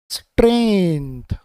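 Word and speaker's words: strength: फिर एन तो स्ट्रेन हो गया, फिर जी आ गया यहाँ पर तो जी साइलेंट हो गया, और ये टी एच को हम यहाँ पर पढ़ेंगे द।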